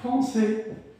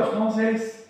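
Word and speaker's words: Français: يبقى بتقول أي حرف ساكن في آخر كلمة غالبا لا ينطق. زي كلمة فرونسي، فرونسي. هو أنا بقول فرونسي ولا فرانسيس؟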